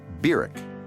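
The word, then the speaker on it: Barack: of 1959 was barrick hussein obama that's how he pronounced his name byric he was welcomed at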